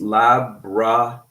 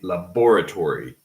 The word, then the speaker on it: laboratory: So it's laboratory. Laboratory. Okay. Laboratory. We do not say laboratory, at least in American English.